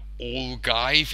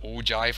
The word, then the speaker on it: ogive: some some days ago I used the word all guys instead of ogive I got both the spelling wrong and the pronunciation wrong so I apologize for